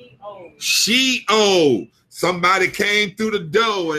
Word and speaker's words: Sheol: And Shiloh, am I saying that right? Shiloh, yeah, I ain't saying that right. Skip that word. I can't say it right. Mercy God. Help me pronounce this word, God. I'm sorry, y'all. I hate to be trying to pronounce a word and I ain't pronouncing it right. So I'm gonna open up my thing and make sure I say this word right. Sheol.